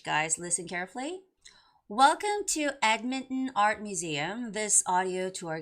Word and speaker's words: Edmonton: And the word Edmonton. Edmonton? No. Normally, you would have to say Edmonton, okay?